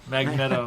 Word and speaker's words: Magneto: One thing that stuck with me was like, wow, I've been saying Magneto's name wrong my entire life. I would say Magneto. Magneto. And then when those movies came out, they're like, Magneto, really?